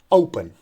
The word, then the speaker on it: open: we don't say open if we say open so then we are stressing the second syllable but actually the second syllable is not stress the first one is trace so we say open and here we have